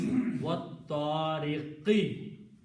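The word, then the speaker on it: والطارق: What, and this alif is not pronounced. So this alif changes into a hamzatul wasl, which is small swad. The meaning of that alif now is that do not pronounce this alif. Okay. Same thing here, when you pronounce, alif is not pronounced, wallahi is pronounced. So this alif is not pronounced, wattariqi. Okay, important thing is that it's tariqi now.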